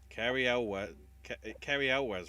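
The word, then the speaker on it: Cary Elwes: Unsurprisingly, It's the new Guy Ritchie film, but it's also got the return of Jason Statham, along with Aubrey Plaza, Carrie Elwes, right? That's the pronunciation, from Princess Bride.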